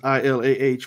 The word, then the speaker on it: ilah: ILAH in Arabic language. I mean, it's, as far as in English, the pronunciation, the spelling is ILAH would be ilah. In Arabic, it's just ilah, right?